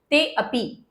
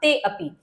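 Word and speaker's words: तेऽपि: इसको बोलेंगे ते अपि। मैंने आपको यही कहा इस अवग्रह का उच्चारण भी अ के समानांतर होता है। इसलिए इसका उच्चारण क्या होगा? ते अपि।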